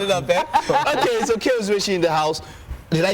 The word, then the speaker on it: Okey Uzoeshi: Okey Uzoeshi, war for war. Did I pronounce it well?